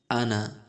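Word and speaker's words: أنا: ডান দিক থেকে দেখছেন আনা, কি লেখা আছে? আমি। আনা অর্থ আমি। এখানে নুনের পরে আলিফ লেখা আছে, আনা। কি লেখা আছে? আনা। কিন্তু এই আলিফের টানের উচ্চারণটি হবে না, উচ্চারণ আমার মতো করেই করেন।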